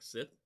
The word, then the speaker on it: SSITH: I have not heard the pronunciation of this, but to me that sounds like Sith. Maybe that's what they're going for.